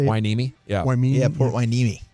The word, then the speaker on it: Hueneme: Hueneme.